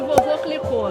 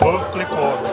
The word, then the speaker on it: Veuve Clicquot: there just with sparkling "Vovô Clicou". Guys, it's a joke, okay? We often something making fun, we say it wrong on purpose, people correct it, right? In the video... It's Veuve Clicquot.